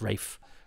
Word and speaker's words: Ralph: And I'm sure somebody I've interviewed, I think, refers to him as Rafe Arliss. I had a teacher who we thought was called Ralph, but he pronounced it Rafe. It's the same spelling.